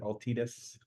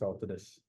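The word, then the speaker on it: Altadis: good FR pack then very good well done aldus you know I hear people pronounce it Altius M I think it's aldus yeah the correct pronunciation is aldus but nobody's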